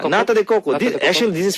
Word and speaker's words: nata de coco: Now they got the I don't know how to pronounce it. Natareko, nataku, Natakoko? Yeah, nata de coco.